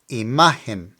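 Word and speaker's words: imagen: guess from its spelling pronounce it with the emphasis on the m a imin IM pretty easy right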